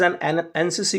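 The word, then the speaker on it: NCC: जिसे देखें शशि इस एनसीसी ऑफिसर तो एनसीसी ध्यान रखें एनसीसी तो एन का जब हम उच्चारण करेंगे तो ए से शुरुआत होती है ए जो की हिंदी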